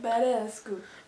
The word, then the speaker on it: Badescu: Badescu. And then is this just Mario? Is that just Mario? Yeah, or Mario. How to pronounce Mario Badescu.